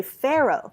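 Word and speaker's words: Faro: And one of the things, one year, these guys had that set up, and they were teaching people how to play Pharaoh, which is spelled F-A-R-O, which I did not know is what they're actually playing.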